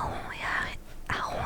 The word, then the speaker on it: Ron: Et du coup, j'ai grandi en pensant que Ron se prononçait Ron, donc parce que en français, R-O-N, ça se prononce Ron, comme ronronner. Et c'est quand j'ai vu les films pour la première fois que ça m'a choqué de voir que c'était pas comme ça que ça se prononçait.